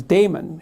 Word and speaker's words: daemon: And then he went off and had a little consultation with his conscience, his daemon, he called it. I think you actually pronounce it demon, but it means conscience for our purposes.